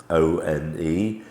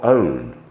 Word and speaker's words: one: word the number one o n e pronounced one not own next our o u